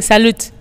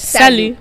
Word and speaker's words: salut: Sally sell you yeah some Indians are saying salute like salad yeah but that tea you don't have to pronounce it that's Sally yeah simple means hello yeah